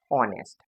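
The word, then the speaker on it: honest: तो ऑनेस्ट लिखा है तो इसमें एच है साइलेंट। तो इसको क्या कहेंगे? ऑनेस्ट। तो इसमें एन लगा।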